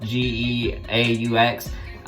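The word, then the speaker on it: Geaux: You know, they have that Go Tigers, where it's spelled G-E-A-U-X instead of G-O.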